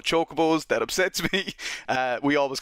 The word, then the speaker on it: chocobo: so feareth we've always called him choco balls now they're called chocobos that upsets me we